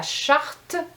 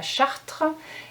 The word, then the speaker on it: charte: qui provoque des erreurs c'est la charte de la laïcité souvent on va dire la chartre et puis 4 documents